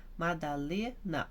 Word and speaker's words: Madalena: Então, por exemplo, o meu, Madalena, o Lê que é forte.